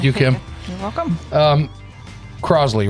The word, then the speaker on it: Crossley: Kim you're welcome um Crosley right that's how you pronounce it it's not Crossley it's Crosley like it's a z sound correct and Kim Carson